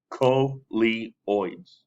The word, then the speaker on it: coleoids: animal group called uh colioids the reason why it's in parentheses is like this okay this tells you how it's pronounced co-lee oids the ocean creatures are